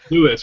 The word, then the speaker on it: Louis: Lewis. Well, he pronounced it Lewis, but it's spelled Louis, so I'm like, fuck it, I'm just going to call you Lando.